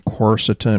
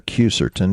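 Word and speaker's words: quercetin: patented one, and then corsetin or cucertin depending on how you want to pronounce it.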